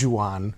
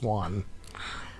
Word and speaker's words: Juan: It's like Juan. It's not Juan. It's Juan.